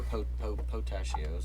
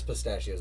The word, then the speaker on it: pistachio: I thought they were potassios or whatever. No, it's you said. pistachios. It's pistachios.